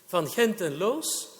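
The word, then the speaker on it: Van Gend en Loos: from hent and Los I'm a Dutch speaker so I pronounced the name in its original pronunciation van henten Los and in that case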